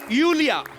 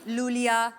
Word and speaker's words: Iulia: well thank you यूलिया यूलिया आपका नाम basically यूलिया यू यू yes pronounce यूलिया यूलिया एंड the spellings are आई यू एल आई ए सो आई आई you know I mean why I everyone is calling me लूलिया लोलिया बट लोलिया लोलिया I like because it's